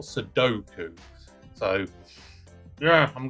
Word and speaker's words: Sudoku: I always pronounce it as Suduku, not Sudoku.